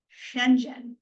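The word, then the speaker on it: Schengen: is the European Union and the Shenzhen area Shenzhen is how it's pronounced I I had to look it up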